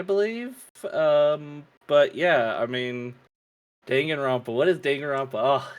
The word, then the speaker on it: Danganronpa: Danganronpa. I'm saying it wrong. I know. No, that's exactly you said. You okay. Danganronpa.